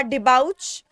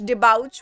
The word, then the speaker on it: debauch: Pronunciation है इस word का डिबाउच, DEBAUCH, डिबाउच.